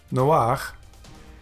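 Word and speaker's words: נֹחַ: Nun, holem, patach furtivum, chet, noach, and that is Noah.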